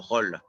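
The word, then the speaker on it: Rolle: in french it's uh in france it's called holla r-o-l-l-e but i think we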